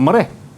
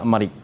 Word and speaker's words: marik: Walau bagaimanapun anak-anak di rumah, jawapan mesti lengkap sampai di memutuskan halkum dan urat marik. Sebut jangan urat mereh, tapi urat marik. Tu planet Marikh Ustaz. Dia marik, M-A-R-I-K.